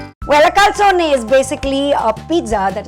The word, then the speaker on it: calzone: So you say calzone. Well, a calzone is basically a pizza that is folded into half.